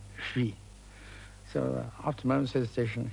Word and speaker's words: Huy: And then he stuck H-U-Y, and just couldn't pronounce Hui. So after a moment's hesitation, he said triumphantly, "Hoi!